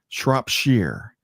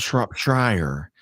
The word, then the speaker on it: Shropshire: Shropshire, not Shropshire, Shropshire. And Andrew's told me this before. I'm sorry, Andrew. Sorry to let you down, but great to have you here today. Have you been to Shropshire, Kim?